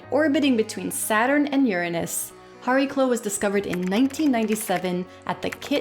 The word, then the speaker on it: Chariklo: (That’s the pronunciation we’re going with. Think of it like the “Ch” you see in “Chanukah”) Chariklo is the largest of